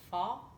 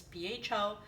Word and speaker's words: pho: asked to share my fall recipe and I know I mispronounced it all the time it's pho it's a Polish version